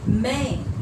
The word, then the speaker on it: मैं: यहाँ पर देखिए, हम शब्द लिए हैं मैं, इसको उच्चारण में क्या करना है, मैं में ए और यहाँ पर बिंदी है, अनुस्वार है, तो ये हो जाएगा मैं।